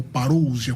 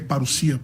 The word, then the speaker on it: parousia: Por exemplo, reverendo a palavra paruia ou parousia, como alguns pronunciam no grego, é paruia, a pronúncia correta, é usado tanto para vinda de Cristo quanto paraa vinda do anticristo.